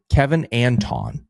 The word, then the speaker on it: Kevin Anton: Here's his name, Kevin Anton. That's how you say it. We said, I think, Kevin Anton, so that's our bad.